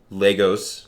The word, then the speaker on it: Lagos: spelled like Lagos but it's pronounced almost like Legos okay so Legos Nigeria where twenty six